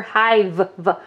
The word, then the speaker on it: hive: sound do we hear we hear Hive we hear a V at the end because the E is silent right so they're going